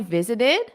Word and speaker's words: visited: So notice the pronunciation here. What do you notice? Visited. Visited. So the base verb is visit, visit. And then when you have the past simple, what happens? Visited, visited, visited. So you add that extra syllable.